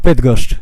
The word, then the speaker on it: Bydgoszcz: This town, how you pronounce it? Bydgoszcz. Bydgoszcz.